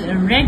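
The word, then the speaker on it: read: रीड और रेड जो है वो आपके स्पेलिंग जो है वो सेम लिखे जाते हैं, प्रोनाउंस डिफरेंट करते हैं। फर्स्ट फॉर्म आपका रीड है, और सेकंड एंड थर्ड फॉर्म जो है वो आपकी रेड रीड की जाती है, बट स्पेलिंग सेम होते हैं।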